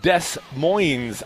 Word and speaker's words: Des Moines: a beer even you Devils Advocates coming back Des Moines Iowa site of the that's how they say